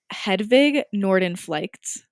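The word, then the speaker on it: Hedvig Nordenflycht: know that's not true right another woman named hedwig norden flights that's how you pronounce it these are like all in another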